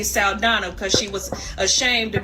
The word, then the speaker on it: Saldaña: we're upset when Zoe salana if you don't know what's going on and no we're not pronouncing it as Sala because she never came on the scene as that she wanted to be salana because she was ashamed